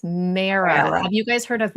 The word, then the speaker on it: MARA: It's Mara.